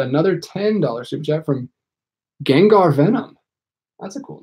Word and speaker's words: Gengar: I think I always say Ginger Venom, and it's not because there's an A in it. I think it's Gengar.